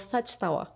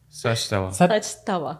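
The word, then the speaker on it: saç tava: And it calls saçtava. Saçtava. Saçtava. Yes. Saçtava. Oh, good. Saçtava. Good pronunciation, yeah.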